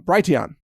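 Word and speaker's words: Brighteon: young calm B righ t EO n dot-com bright yon is how it's pronounced now bright town calm allows you to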